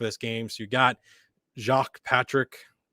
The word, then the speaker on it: Jacques: So you got Jacques Patrick. I believe I believe that's how it's pronounced, but unless it's Jack, but it's probably the French pronunciation of Jacques.